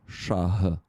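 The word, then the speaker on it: шаг: Shah. This h is something between G and H.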